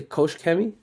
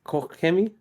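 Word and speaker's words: Koch-Chemie: ways to pronounce this cuz it's a German brand that we carry as well some people say Kosh kemi but it's really pronounced KMI it's a German manand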